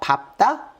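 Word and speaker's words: 밟다: 3읍요 세 가지 기억하시고요 그다음 리을 비읍으로 당연히 앞에게 발음되는 건데 예외로 기억나요 밥다 밥다 밥고 밥지 이렇게 바다만 이렇게 됩니다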